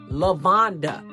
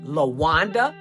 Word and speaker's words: Lavonda: My name is Lavonda. It became Lawanda, Yolanda, Yavonda, Labonda.